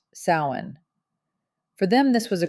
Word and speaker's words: Samhain: Our journey begins with the ancient Kelts in their festival of sin, pronounced sin.